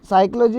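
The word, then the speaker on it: psychology: अब साइकोलॉजी में जो पी वर्ड है वो साइलेंट रहता है, पी वर्ड जो है वो शुरू में ही साइलेंट रहता है, इसको साइकोलॉजी पढ़ते हैं।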